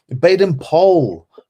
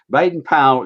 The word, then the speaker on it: Baden-Powell: Baden-Powell. Baden-Powell, not Baden-Powell. Well, you say so. Baden-Powell used to say that his name was that Powell rhymed with pole, but he also tells